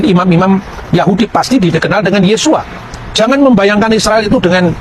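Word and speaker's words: Yeshua: Yesus ketika dia orang Yahudi dia pasti membaca yesua yang percaya bahwa Yesus itu Mesias pasti membacanya yesua hamasiah nah yesua ha masiah itu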